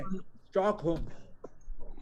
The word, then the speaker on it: Stockholm: देखो बेटा एल की Stockholm. एल की साउंड नहीं है, स्टॉकहोम।